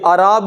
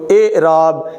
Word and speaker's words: اعراب: آئیے ہم آپ کے سلیبس کے اندر موجود اعراب، یہ اعراب نہیں بولنا اس کو، اعراب.